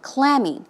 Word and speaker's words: clammy: adjective as you say the stress goes on the first syllable clammy it's cold and damp